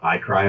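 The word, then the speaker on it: ICRI: So at Sika, we do defer to iCry a lot. So that's how we pronounce the acronym.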